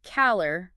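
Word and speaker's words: calor: Like in caller, meaning heat, the lore gets the emphasis.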